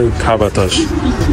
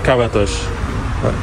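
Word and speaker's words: Kabataş: بالاخره رسیدیم در استگاه کبتاج. من این کبتاج نامزه بایم بس چقدر ما را سرگردان کرد. خیلی ما شما کبتاج میخوانیم اما او سه کسی که آخرش هست که اینا رو شیر تلفظ میکنم.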